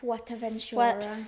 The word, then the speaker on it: Fuerteventura: Fuerteventura.